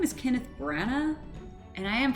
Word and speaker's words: Branagh: His name is Kenneth Branagh, and I am pronouncing it right.